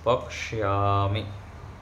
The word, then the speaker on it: पक्ष्यामि: इस अभ्यास के हाँ, पक्ष्यामि, पक्ष्यामि नहीं, छ का नहीं करेंगे, पक्ष्या ऐसे स का उच्चारण होगा, मूर्धन्य स का, पक्ष्यामि। नहीं, क और मूर्धन्य स, पक्ष्यामि।